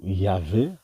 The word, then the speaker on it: Yahvé: Donc voilà la démonstration, donc le tétragramme, ok, le YHWH, pardon, donc est égal, comme on a vu, à Yahweh ou Yahvé, hein, vu que le W est prononcé V.